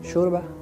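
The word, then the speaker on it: شوربة: Now the next Arabic word is shurba. Shurba is soup. Soup. Sheen. There is difference. Seen and sheen. Shore. Not so. Shurba.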